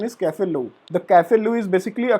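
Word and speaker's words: café au lait: The pronunciation in the Desi Bhasha we say Cafe-Late spot, but actual pronunciation is Cafe-Lou.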